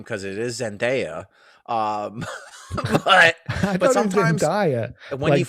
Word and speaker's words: Zendaya: she looked damn good and i'm talking about zendaya okay you know i have not seen the